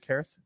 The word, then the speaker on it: Karris: am I pronouncing that right, Karris? Karris, rocked it.